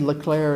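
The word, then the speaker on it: Leclerc: time just a spelling richard leclaire is pronounced that way but i believe it's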